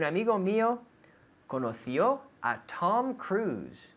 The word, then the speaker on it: Cruise: mio conocio a tom cruise we say in english tom cruise not cruise but cruz right a friend of mine met tom cruise yeah yeah did a friend of yours meet tom cruise no no no um